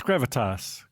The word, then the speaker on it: gravitas: Is it pronounced gravitas without an S? It's gravitas because it's Latin.